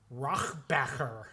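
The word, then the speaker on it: Rohrabacher: So, what happened when Yakov Smirnoff was listed by one Dana Rochbacher. Mm-hmm. Am I pronouncing that correctly?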